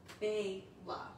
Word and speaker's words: Bella: And I kept saying Bela because I'm like, well, it's spelled Bella, but it's really pronounced, if it's male, Bela. Okay. Yeah. So just like Bela Lugosi.